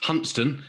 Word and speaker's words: Hunstanton: I think you'll find it's pronounced hunston if you uh live in North Norfolk even though it's SP